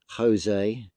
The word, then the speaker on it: José: Juan, consider the name José, consider foods like fajitas and jalapeños. Look how they're spelt. All four of those words are spelt with a J, but are pronounced with an with a H.